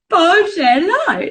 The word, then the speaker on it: Bargello: Bargello. There we go. Basically, I don't actually have any of the cards to show you because I've run out of stuff. But imagine it like you're saying hello, Bargello.